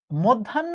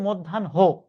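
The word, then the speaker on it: মধ্যাহ্ন: Admission টেস্টে প্রশ্ন এসেছে মধ্যান্য বানানে আমি কিন্তু উচ্চারণটা এইমাত্র ভুল করলাম। আসলে উচ্চারণটা কিন্তু মধ্যান হো। ঠিক আছে? এখন উচ্চারণ শেষ হবে হো।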